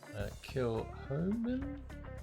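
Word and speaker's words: Kilchoman: Kilhoman, it's pronounced over here.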